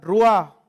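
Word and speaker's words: רוח: del cuerpo de cristo' en hebreo a la palabra espíritu se pronuncia rúa y en la misma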